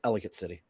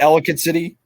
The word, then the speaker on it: Ellicott City: It's pronounced Ellicott City. Is it Ellicott City?